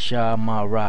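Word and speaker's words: שמר: So if you write it out like that, it's sha, ma, ra, ha. But when you put it together, it's shamar. That's how you say it.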